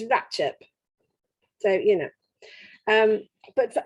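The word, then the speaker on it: Ratlinghope: She notes some of the names, and thankfully they're rather strange pronunciations, like Rattling Hope, as it's spelt, is Ratchop.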